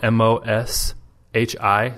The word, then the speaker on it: Moshi: And this is called Moshi, and that's spelled MOSHI, so Moshi.